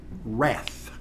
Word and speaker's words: Rath: front office manager, a young lady named Rath. I tried to make that a W-R-A-T-H. She reminded me that the W is silent. Although to know a Rath, you would think it was a W.